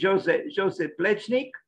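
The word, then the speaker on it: Jože Plečnik: I just checked on his on the pronunciation of his name, and it's something like this, Joze Plecnik.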